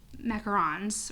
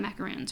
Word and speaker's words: macaron: So you got 3 macarons, right? Those are macarons, not macaroons, right? Right. Okay, macarons. Oh wait, I'm looking at the wrong thing, but still right. Yeah, 3 macarons.